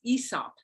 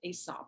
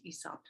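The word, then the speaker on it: Aesop: you pronounced that is ESOP it's not pronounced asop it's ESOP so this is a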